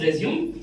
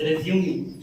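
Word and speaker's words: résumé: Some people call it as resume, some people call it as resume. Okay, both are correct. English is such a funny language. For a single word, we are pronouncing in two different meaning, two different way. So both are acceptable.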